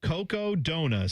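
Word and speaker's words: Cocodona: Coco Dona.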